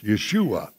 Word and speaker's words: Yeshua: say in hebrew circles yeshua which is the hebrew pronunciation of his name so the central text